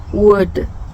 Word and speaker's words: word: 워드 이렇게 하신다고 생각을 하시면 되는데요. 근데 워와 드 사이에 으가 좀 붙었다. word 이렇게 설명을 하는 게 저의 최선일 것 같아요.